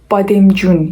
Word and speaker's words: بادمجان: Farsçada patlıcan bademcun ya da bademcan yazılır. Bademcun okunur.